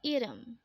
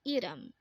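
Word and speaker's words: 이름: Next word is Irum. Again, this is pronounced as Irum, and this is the Korean term for name. Again, Irum is name.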